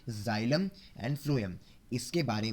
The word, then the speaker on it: phloem: वैसे start P से होता है लेकिन प्रोनाउंसिएशन की बात कर रहा हूँ मैं. तो फर्स्ट से फ्लोएम, फर्स्ट से फूड.